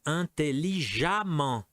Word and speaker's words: intelligemment: L'adverbe intelligemment. Intelligemment. C, indépendant. Indépendamment. D, plaisant, plaisamment. Et E, excellent, excellemment. Toute cette colonne se prononce amant, excellemment.